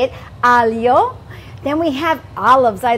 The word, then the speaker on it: aglio: Aglio.